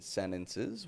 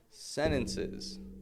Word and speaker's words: sentences: Now, some of you listening may have heard me say sentences, and notice to yourself, there's a T in sentences. Why didn't he pronounce the T? NT combination. Practice sentences.